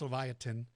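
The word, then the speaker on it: Livyatan: called Leviathan now Lafayette this one's pronounced Leviathan Leviathan is related to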